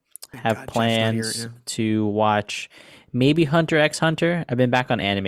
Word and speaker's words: Hunter x Hunter: consuming, and I have plans to watch maybe Hunter x Hunter. I've been back on anime at the moment, so come talk to me about that weeb shit. Marco, So it's just Hunter x Hunter.